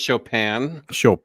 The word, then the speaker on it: Chopin: dorset is given a it's pronounced chopin chopin excuse me simple doors